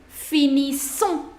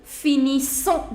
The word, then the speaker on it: finissons: Là, c'est nous finissons. Nous finissons. The pronunciation of double S in French is se, se. So you say nous finissons.